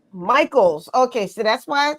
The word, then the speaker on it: Michels: Now, tell me before we get started, is it Michels? Michels. Michaels.